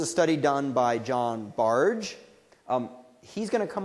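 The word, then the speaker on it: Bargh: on automaticity um and his name is pronounced barge not bar um or bark uh and so what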